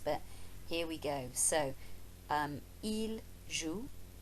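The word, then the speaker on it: ils jouent: ent eel L zoo but we don't pronounce the ENT pesky old French and the letters that they don't pronounce but here we go so eel zu l jewel for the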